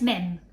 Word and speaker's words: Mim: Mum, it's Mim. Rhymes with Quim.